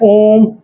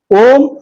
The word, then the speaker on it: ओम: ओम का उच्चारण करते समय वो केवल ओ का उच्चारण 3 बार करता था, मतलब एक ही सांस में ऐसा उच्चारण करता था। लास्ट में 1 बार म आता है, आप भी करके दे सकते हैं।